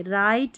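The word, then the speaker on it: write: है ना ये शब्द, तो यहाँ पर डब्लू साइलेंट है, इसको डब्लू को नहीं पढ़ेंगे। राइट, रॉन्ग और रैप, हम डब्लू का उच्चारण नहीं कर रहे हैं, राइट, रॉन्ग और रैप, इन तीनों स्पेलिंग में।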